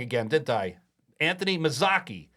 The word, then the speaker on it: Mazzocchi: to say hello to us along with Anthony Mizuki I said your name wrong again didn't I Anthony mazaki correct maak why can't I get that right